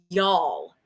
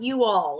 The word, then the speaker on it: y'all: Just so you know, the correct pronunciation once you cross state lines is y'all. It's not you all. It's y'all.